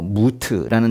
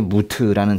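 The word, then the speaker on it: מות: 뭐 무트라는 단어도 있고 하라그라는 단어도 있고 그래요.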